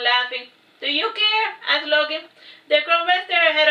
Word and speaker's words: Loki: I am Loki, pronounced Loki.